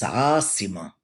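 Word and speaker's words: عاصمة: How do we say capital in Arabic? Is it Asira, Asima, or Asifa? Remember, boys and girls, this is a pre-test. It's Asima. Yes, it is. Asima.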